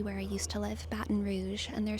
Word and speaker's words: Baton Rouge: but YouTube AI is letting me know that Baton Rouge is in fact the incorrect pronunciation, and this comment is right. This comment is right. Um apparently it is properly pronounced Baton Rouge, Louisiana.